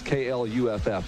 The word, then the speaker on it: Clough: The guy just texted me and told me it's KLUFF. That's phonetically how you say it.